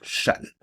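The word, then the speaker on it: Chasles: Alors, une relation extrêmement importante, ce qu'on appelle la relation de châle. Voyez bien comment ça s'écrit. Il y a un S ici et ça se prononce chale.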